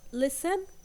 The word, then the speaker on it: listen: L and castle with underlining the T and listen also we have silent T and we have